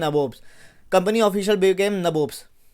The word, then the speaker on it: nabob: देखो भाई, ये स्पेलिंग गलत नहीं है, ये ब्रिटिशर्स को बोलना नहीं आता था। ये नवाब्स को नबोब्स कहते थे, नबोब्स, ठीक है, समझ रहे हैं ना, नबोब्स।